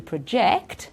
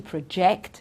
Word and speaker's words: project: the beginning here it's easier with the next one to project okay to project something or a project okay so you see here it's at the beginning this one even better